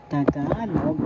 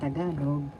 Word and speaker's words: Tagalog: Tagalog by this time you know how to say this. First syllable ta second syllable ka third syllable love.